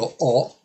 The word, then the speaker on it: ho: regola ci dice che quando io dico io ho non pronuncio la h Ma ma devo